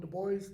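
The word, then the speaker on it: de Bois: Sir Roland deis that that's the English spelling of b o i s okay if you want to say Sir Roland de boys that's fine uh then amen and Jake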